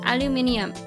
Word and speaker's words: aluminium: In Australia, aluminum is most commonly pronounced as aluminium. First syllable having an O sound and second syllable pronounced as mini.